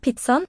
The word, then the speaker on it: pizzaen: Her er pizzaen, vær så god. Her er pizzaen, vær så god. Her er pizzaen, vær så god. So spelled with an E, but there's no E sound.